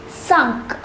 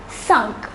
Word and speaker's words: cinq: The number 5 is pronounced as cinq. Repeat with me, cinq.